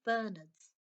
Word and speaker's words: Bernard: the next mansion live saint bernards pronounced bernard the saint bernard the emphasis on the nard says here like mr